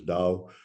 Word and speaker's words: Tao: the totally aligned organization Tao which yeah in Chinese it would be pronounced as Dao but very much similar